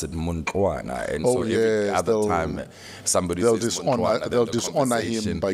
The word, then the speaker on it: Muntwana: Which is in Ndebele and pronounced Mundluana. Oh, Mundluana. So it's almost like a D sound. Oh, yes, but it's spelled with a TL.